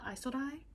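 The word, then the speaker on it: Isolde: pronounce her name uh isildai it's i-s-o-l-d-e i'm caller izzy um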